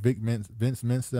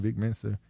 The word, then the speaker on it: Vic Mensa: But people kept bringing up the thing where he got checked by Vince Mensa, how you say his name? Vic Mensa, who turned, now he wearing dresses and stuff.